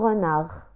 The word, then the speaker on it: renard: La nontek harf D fi akhir kalimat renard. Un renard.